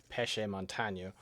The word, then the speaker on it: Pesce Montagne: my favorite Gundam characters, who is, despite the name, you look at the the lettering and it is pronounced Pesce Montagne.